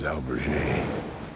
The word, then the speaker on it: albergue: And I think the better pronunciation is albergue.